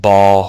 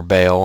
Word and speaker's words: Baal: This is the emblem of Baal or Baal, however you want to pronounce it.